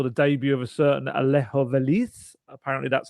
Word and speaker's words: Alejo Veliz: I saw the debut of a certain Alejo Veliz. Apparently, that's how you pronounce it, which is going to cause me nightmares over the seasons to come.